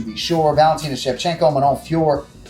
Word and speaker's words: Fiorot: Valentina Shevchenko, Manon Fiorot, we went over the pronunciation with Manon Fiorot, Fioro, whatever. She still says Fiorot, final answer, sorry.